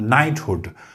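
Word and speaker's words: knight: आपने नाइट के एन आई जी एच टी इसको नाइट ही पढ़ना है।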